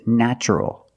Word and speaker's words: natural: a vowel an a also in this pattern the t is pronounced with the CH sound so the word is natural but first let's focus